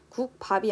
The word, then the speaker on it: 국밥: 세 번째 국밥은 국밥이 아니라 국밥으로 발음 나면서 뒤에 있는 비읍이 쌍비읍으로 바뀌고 있죠.